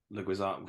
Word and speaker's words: Leguizamo: I think Reese said about like John Leguizamo.